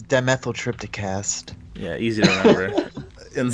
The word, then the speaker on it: Dimethyltryptacast: You can pronounce it. What's your show called? It's dimethyltrypticast.